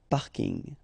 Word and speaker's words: parking: from English but still you should pronounce it the French way paring parking okay and the last one